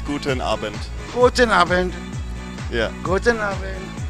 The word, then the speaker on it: Guten Abend: In German it's Guten Abend.